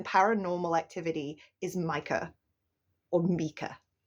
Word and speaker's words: Micah: It's attempting to protect her because the real bad guy in paranormal activity is Micah or Mika. His name is pronounced Mika, which is an unusual pronunciation of that name, but just because it's unusual doesn't mean that like it's wrong or anything.